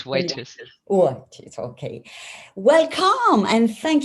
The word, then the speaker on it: Whitis: Aujourd'hui, nous avons le plaisir d'avoir Whitis, how you pronounce? It's Whitis.